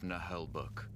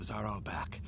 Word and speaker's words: Naheulbeuk: Together, they have just crossed into the terrible dungeon of Naheulbeuk. That's how they pronounce it. This Naheulbeuk.